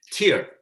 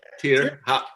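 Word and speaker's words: Týr: Like we were on tour with Children of Bodom and Tyr, or that's how you say it, Tyr, however you want to say it. You're right, Tyr.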